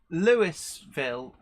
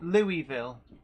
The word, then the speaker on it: Louisville: now in uh in is that Lewisville or Louisville Louisville yeah but then it's St Louis yes but Louisville is different okay Louisville see uh